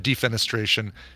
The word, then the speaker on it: defenestration: yeah I don't the the root word the French word you pronounce with the middle the middle syllable uh accented but interfenestration I think for that you would and defenestration you would uh accent the the fen syllable all I know is